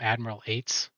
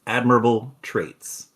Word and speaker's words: Admirable Traits: wanting to call him Admiral Eights. Just kind of skipping the middle chunk of that. I always miss the pronunciation because it's admirable traits, but I want to say Admiral Baltraits.